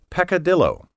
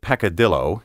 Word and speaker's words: peccadillo: next ten keywords in level six word 31 peccadillo PE c CA di ll o a small